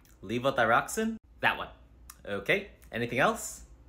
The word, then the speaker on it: levothyroxine: something for my thyroid I think it's called leave thyroxine levothyroxine that one okay anything else I recently started